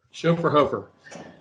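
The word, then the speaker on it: Schöfferhofer: Chauffeur Hofer.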